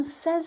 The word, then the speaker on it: says: And remember, the pronunciation here is say, but this is says. Say, says.